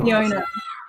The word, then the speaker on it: Soegiono: Is it Oh, it's Sojourno? Soegiono. Jono. Soegiono. Yeah.